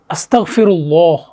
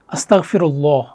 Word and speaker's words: আসতাগফিরুল্লাহ: উচ্চারণ করে হ্যাঁ আস্তাগফিরুল্লাহ এখানে ক না ঠিক আছে হচ্ছে গ এর মতো গাইন তো কি হবে আস্তাগফিরুল্লাহ আস্তাগফিরুল্লাহ আশা করি বুঝতে পারছেন আমার সাথে আরেকবার সবাই একটু বলবেন আস্তাগফিরুল্লাহ আস্তাগফিরুল্লাহ আস্তাগফিরুল্লাহ তাহলে আমরা